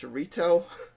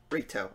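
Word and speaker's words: Rito: fast it's I finally found out how to pronounce the name it's reto I don't know if I've been pronouncing it wrong but reto okay also I'm very confused at the Timeline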